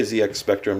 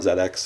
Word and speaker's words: ZX Spectrum: plus two you'll notice I say ZX Spectrum not ZX that's the British pronunciation of the letter z so I don't pronounce